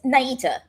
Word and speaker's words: Nieta: I mean, here's the thing, Nieta. Wait, is it Nieta? It's Nieta. Nieta. I'm so sorry. Thank you. It's fine. Nieta is how you say it in Spanish.